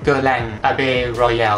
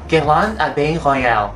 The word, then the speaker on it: Guerlain Abeille Royale: นั่ น ก็ คื อ ตั ว นี้ น ะ ค ะ ก็ คื อ ตั ว Guerlain Abbé Royal น ะ อ อ ก เ สี ย